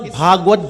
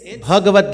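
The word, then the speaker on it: Bhagavad: What is the difference between Bhagwat Mahapuran and Bhagavat Gita? What's the difference? Why do we say Bhagavat? And why do we say Bhagavat? It's not Bhagwat Gita, it's Bhagavat Gita.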